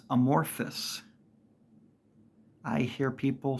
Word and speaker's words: amorphous: Another one, material, amorphous. It's not Amorpheus. It's not Morpheus from the Matrix with an A in front of it. It's amorphous.